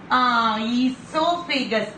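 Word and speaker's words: oesophagus: Esophagus. O is kept silent. Esophagus.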